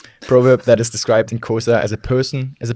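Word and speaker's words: Xhosa: The kosa kosa nuni proverb that is described in kosa. Please excuse my pronunciation. This is like a horse riding click.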